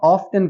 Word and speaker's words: often: जी, mister Jawad इस word को हम often कहेंगे। इसमें टी को प्रोनाउंस किया जाएगा, इसमें टी साइलेंट नहीं है। मोस्टली पीपल इसको ऑफन कहते हैं, बट it's correct pronunciation is again ऑफ्टन.